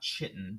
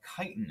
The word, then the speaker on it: chitin: can see their exoskeleton it's called chitin not chitten but chitin is how you pronounce that and if you ever